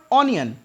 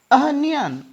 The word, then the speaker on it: onion: बोलते हैं ऑनियन, इट इज नॉट ऑनियन, अनियन, अनियन, अनियन, I need अनियन, अनियन। बहुत से लोग तो अनियन ही कह देते हैं, नो प्रॉब्लम, अनियन भी चल जाएगा, अनियन भी चल जाएगा, दोनों प्रोनाउंसिएशन करेक्ट हैं।